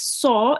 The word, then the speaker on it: ص: Just saw is a thick letter, so make sure to round your mouth when you say it.